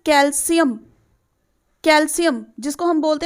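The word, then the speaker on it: calcium: This is generally जो बच्चे बोलते हैं इसको हम बोलते हैं कैल्शियम, but this is नॉट कैल्शियम, this is कैल्शियम।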